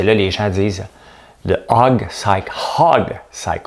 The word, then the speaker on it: hog cycle: Parce que là, les gens disent le hog cycle. Hog cycle. Il faut toujours prononcer le H.